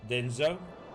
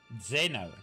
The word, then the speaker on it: Zeno: Thanks for the follow, Denzo. Let me see, where was I? Right over here. Oh, this is actually new people. Denzo? No. Zeno? Zeno. That's how you say it.